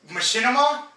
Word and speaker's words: Machinima: real quick for those who don't know um Machinima that's how you say it yeah yeah Machinima